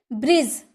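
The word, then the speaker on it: bridge: laser laser वही खाता ब्रिज ब्रिज कभी आपने बोला है नहीं ब्रिज क्या होता है कुछ नहीं होता है ब्रिज होता है क्योंकि जी का पहले डी आया है इसीलिए वो साइलेंट होता है ब्रिज यानी कि पुल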